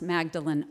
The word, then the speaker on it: Magdalen: But here at Oxford, we pronounce Magdalen, Magdalen. So if you're confused, just look for something.